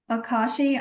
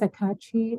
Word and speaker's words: Akachi: you thank you David Akashi I'm sorry if I said your name wrong um if you want to go next yeah you absolutely said it right my name is akachi and I am with